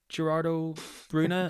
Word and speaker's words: Gerardo Bruna: Gareth, but I do have to correct your pronunciation. I believe it's former Liverpool and Real Madrid player Gerardo Bruna.